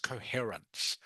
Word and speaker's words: coherence: is pronounced just like the C is pronounced like an S like an S okay so it's pronounced coherence okay um so you